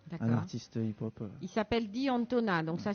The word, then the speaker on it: D'Antona: Il s'appelle D'Antona, donc ça s'écrit D-I plus loin A-N-T-O-N-A pour ceux qui cherchent.